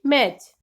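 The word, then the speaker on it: match: Silent T, किसी भी word में T के बाद CH आए तो T साइलेंट रहता है। Like वॉच, स्नैच, बैच, मैच, इन सभी वर्ड में T के बाद CH आ रहा है, इट मीन्स कि हम T की आवाज नहीं लेंगे, T को साइलेंट रखेंगे, सीधा ही बोलेंगे वॉच या फिर स्नैच, बैच या फिर मैच।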